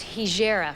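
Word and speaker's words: Hejira: Crow from Joni's album hijirat now that settles an old family score it's hegera for sure that's how you pronounce it please welcome once again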